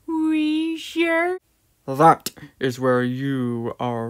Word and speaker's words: Wheezer: actually professor snape share it's pronounced we sure that is where you